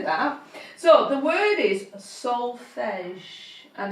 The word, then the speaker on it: solfege: So the word is solfege, and it's spelt SOLFEGE.